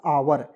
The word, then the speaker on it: our: पढ़ेंगे ओ यू आर तो इसे पढ़ेंगे दोस्तो आवर और आवर मीस क्या होगा दोस्तों हमारा हमारा